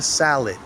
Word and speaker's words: salad: Why don't we look at a very common food, which is the salad. Salad. Yes, that's right. There are two A's in the word salad, but we pronounce each A differently. That's part of the rock and roll rhythm of English.